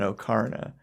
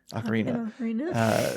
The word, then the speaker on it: Ocarina: epic Link Cosplay like playing an okarna Ocarina uh that's how I pronounce it as a kid before I heard anyone say it out loud and I still